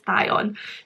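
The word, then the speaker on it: Thyon: think it is like obviously it's spelled t h y o n but for some reason i want to pronounce it beyond but my lovely friend ro has to ignite it is thai on so i'm trying to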